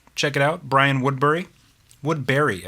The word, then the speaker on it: Woodbury: it out Brian Woodbury Woodberry I think that's how you pronounce it I always was pronouncing it Woodbury uh but I never actually asked him and then um he has a song called the other Brian Woodberry and he pronounces it Barry so um Woodberry I